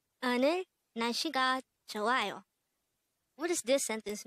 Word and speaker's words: 날씨: 날씨, 날씨, 날씨. This is pronounced as a two-syllable word. The first syllable is 날, second syllable is 씨.